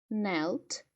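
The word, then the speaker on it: knelt: заморожувати або замерзати N зверніть увагу пишеться перша буква K але не читається читається nл N nelt nл стояти на колінах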